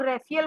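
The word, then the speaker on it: Raphael: आर्केंजेल rough कई लोग रेफल बोलते हैं कई लोग रफेल बोलते हैं इंग्लिश का वर्ड है तो उसका उच्चारण अलग अलग हो सक ग्रीन कलर की एनर्जी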